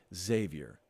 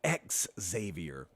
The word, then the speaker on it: Xavier: I go really, really hard on the X, and it's just Xavier. It's not X Xavier.